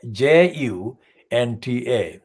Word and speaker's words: junta: by the military hunter now the military junta is spelled j-u-n-t-a junta many people used to the english text misread and confuse it this is not an english word it's a word from the latin american kind of context sorry let it